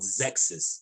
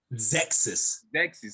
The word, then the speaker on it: Xexyz: It's called Zexus. It's even spelled weird. It's spelled XEXYZ.